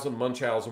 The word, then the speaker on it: Munchausen: Some people will pronounce it different ways, but it's Munchausen, whatever you want to call it.